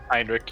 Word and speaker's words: Heinrich: Pronounce Heinrich? Heinrich, yeah.